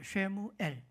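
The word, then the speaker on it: שמואל: 정확한 히브리어 발음으로 쉐무엘입니다. 쉐무엘.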